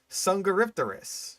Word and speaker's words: Dsungaripterus: Or whatever the fuck you're pronouncing it as. But it's called Dsungaripterus.